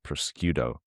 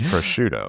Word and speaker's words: prosciutto: I said the word, I said it prosciutto, and it's not pronounced that way. It's not pronounced that way. It's prosciutto. Prosciutto.